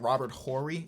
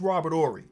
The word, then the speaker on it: Robert Horry: See, I be seeing people pronounce the H like Robert Horry, and I used to be in that group, but I'm pretty sure it's Robert Horry. Robert Horry sounds way better.